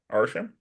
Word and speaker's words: Arishem: They talk, and Kingo decides to help Agatha, which pisses off Arishem. Pronunciation check, because I think that's how it is. Arishem.